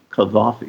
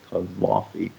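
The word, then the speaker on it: Gaddafi: in with Libya you could do that and kavi which is how it's pronounced kavi gave up his nuclear weapons because he saw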